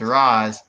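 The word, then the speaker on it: Ra's: and arrow what um they keep going in and out of the comic pronunciation for his name versus the nolan pronunciation of his name yeah yeah and in these movies it's raws and they keep going back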